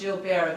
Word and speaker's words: Gilbert: It was always pronounced jielber the French way, not Gilbert.